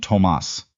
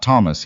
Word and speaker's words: Tomas: The boy was named Tomas, not Thomas, he corrected her the first time she said it wrong, very firmly, the way